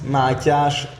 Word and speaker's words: Mátyás: And well, especially in Switzerland, it's always like this, that when I say my name, they write it with two t's and one h and call me Matthias.